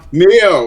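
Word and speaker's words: Nioh: It has the Ghost of Tsushima look, and also kind of like that Noi look. How was it pronounced? Neo.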